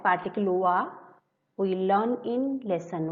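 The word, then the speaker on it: は: Okay, like particle wa, we learn in lesson 1 that a ha, hiragana ha, when used in grammar as a particle, pronunciation changed to wa.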